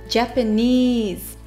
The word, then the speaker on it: Japanese: を出しますニズジャパニーズはニズを強く発音しますでは 3 回